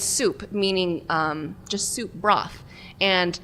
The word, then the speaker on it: Sup: It's called Soup, but it's spelled out S-U-P. So non-Vietnamese people would call it sup, but it's soup, meaning just soup broth.